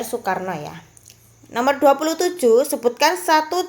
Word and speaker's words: Soekarno: Supomo kemudian yang terakhir adalah Ir suikarno Tapi bacanya Ir Soekarno ya Nomor 27 Sebutkan